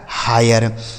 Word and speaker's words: hire: H से हो गया हा, आई का उच्चारण आए, RE से र, लिखा है हायर।